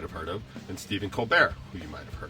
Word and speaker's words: Colbert: colleagues was also stephen colbert now stephen colbert spells his name c-o-l-b-e-r-t the t is silent i guess it's french i'm not entirely sure but he used to do a segment called the colbert report because both tees